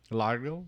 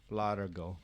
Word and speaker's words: largo: Largo? Largo. Largo. L-A-R-G-O. Demasiado es demasiado Like key largo.